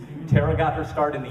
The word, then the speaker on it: Toronto: she's a native Toronto notice how I pronounce that correctly terara got her starred in